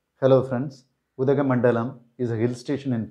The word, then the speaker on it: Udhagamandalam: The name of this hill station can be pronounced Udhagamandalam. Udhagamandalam.